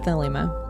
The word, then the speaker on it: Thelema: The llama. Did I say it wrong again? No, that's how I say it. The llama. Oh, the llama. Thelema. I think it's Thelema. It's Thelema.